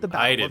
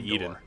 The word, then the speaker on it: Iden: Before most of the unit deserted and joined the Rebel Alliance Oh, that's how you pronounce her name. Iden, not Eden.